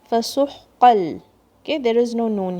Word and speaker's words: فَسُحْقًا: Sin, ha from the middle of your throat. Don't shake this ha. فَسُحْقًا.